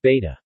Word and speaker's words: becak: Indonesia cycle rickshaws in Indonesia are called besik, pronounced beta.